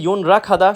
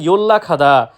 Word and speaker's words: 연락하다: এটা যদি কেউ উচ্চারণ করে ইয়োনরা খাদা, সম্পূর্ণরূপে ভুল। সঠিক উচ্চারণ ইয়োল্লা খাদা মানে যোগাযোগ করা।